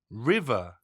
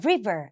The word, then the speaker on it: river: ว่า River นะ คะ อย่า ลืม ตัว v นะ หนู ออก เสียง เป็น มี เสียง เวอะ เวอะ นะ คะ มี สั มี แบบ เค้า เรียก อะไร จั๊กจี้ อยู่ ตรง ปาก ด้วย นะ คะ ิ